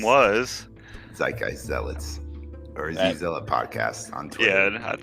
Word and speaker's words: zeitgeist: in their zeitgeist ravi zeitgeist it only has two syllables it's probably in the